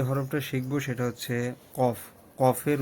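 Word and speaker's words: ق: হরফটা শিখবো সেটা হচ্ছে কফ কফের উচ্চারণ কফ এটা একটু কলকলার হরফ যেহেতু কফ ত বা জিম দাল সেহেতু এগুলার উচ্চারণ কিন্তু একদম কন্ঠনালী থেকে একদম কন্ঠনালী থেকে কফ কফ এইভাবে ঠিক আছে কন্ঠ থেকে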